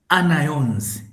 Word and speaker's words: anions: Also, at the anode, this attracts anions, not anions. Like you want to pronounce onion, but then you think you're in